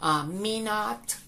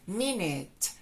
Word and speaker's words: minute: a la pronunciada como mina mina es nominada no es mina no es minuto es mi net minutes y está a muchos